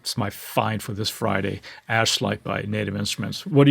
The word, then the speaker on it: Ashlight: pronounce this correctly because it's very easy to mispronounce this, but it's called Ashite. Ash light and it is a granular synth engine essentially